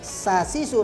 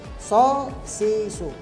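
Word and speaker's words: ص: Jadi so membacanya tidak seperti sin. Ya, jadi so dipatah, so di kasroh, so di domah, su. Bukan sa sisu tapi so sisu.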